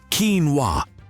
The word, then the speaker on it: quinoa: And then there's the pronunciation debate. Officially, it's quinoa.